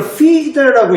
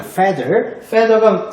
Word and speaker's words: feather: 많은 학생들이 이걸 feeder라고 읽어요. feeder가 아니고요. feather입니다. feather가 그 깃털이라는 뜻이고요.